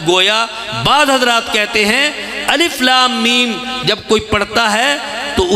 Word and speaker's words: الم: 3 حرف ہیں، لیکن تلفظ کے اعتبار سے ہر حرف 3 حرفوں کے ساتھ ادا ہوتا ہے. تو گویا بعض حضرات کہتے ہیں الف لام میم جب کوئی پڑھتا ہے